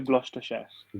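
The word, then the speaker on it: Gloucestershire: Gordon university है, इसके बाद ऑक्सटॉल, इसको क्या प्रोनाउंस करेंगे, यूनिवर्सिटी ऑफ ग्लूस सर ये ग्लूस्टरशायर share university of ग्लॉस्टरशायर।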